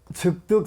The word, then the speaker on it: 즉득: 그래서 그걸 뭐라고 표현하냐면 즉득 성취한다. 그러니까 여러분들이 소원 성취를 그 하고 싶다 그러면 어떻게 하면 돼요? 지장경을 기도하면 돼요. 이게 요거는 즉득이라고 읽어요.